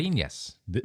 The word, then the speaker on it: caipirinhas: Caipirinhas. Thank you, Matt. I didn't know how to pronounce it, but I knew Love that was caipirinhas.